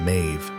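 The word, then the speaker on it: Medb: Scholars connect her name to Meb, pronounced Mave, the legendary warrior queen of Kanod, famed in the Tinbo Quaila.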